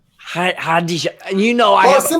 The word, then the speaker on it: Khadija: How do you pronounce her name? Khadija. Khadija.